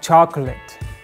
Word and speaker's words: chocolate: that jewelry I love chocolate if you pronounce like me chocolate you are definitely wrong remember chocolate has just two syllables chalk and let chocolate chocolate chocolate not